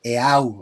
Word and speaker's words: Eau: Se escribe EAU, o sea, es francés.